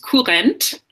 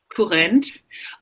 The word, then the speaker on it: Kurrent: But can you pronounce that German word? Yeah, the term is Kurrent. Kurrent.